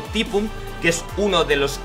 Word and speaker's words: Typhoon: Pronunciado Typhoon, que es uno de los Grandmaster de Corea que ha participado en los torneos oficiales, ¿vale?